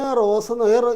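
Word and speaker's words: रोज़: റോജ് അഭ്യാസ് കർത്താഹും മൈന റോസ് ഈ സായുടെ ഉച്ചാരണം ഉണ്ടല്ലോ സഡ പോലെയാണ് സഡ പോലെയാണ് അപ് മേ റോസ് അഭ്യാസ്കർത്താവും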